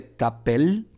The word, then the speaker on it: t'appelles: el francés de acuerdo en el caso de tapel te das cuenta la última e y la s no la pronuncio o